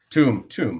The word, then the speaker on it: Tombe: Did I pronounce that right? Tombe.